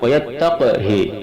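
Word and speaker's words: وَيَتَّقْهِ: Yang keenam, wayattaqhi surat An-Nur ayat 52, qafnya mati, haknya kasrah dan pendek.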